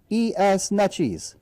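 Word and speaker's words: Neches: 1 p.m in net cheese hall 133 n-e-c-h-e-s nutshees that's because i've heard i've heard that pronounced probably eight ways from eight different people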